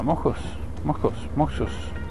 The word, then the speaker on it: Moxos: Se escribe con X, pero se pronuncia con J. Moxos.